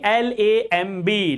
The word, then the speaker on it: lamb: B is silent when B just comes after M.